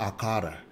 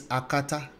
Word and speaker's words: akata: an akata it's not a qatar it's not al-qaeda no it's akata there's actually intonation to it okay and of course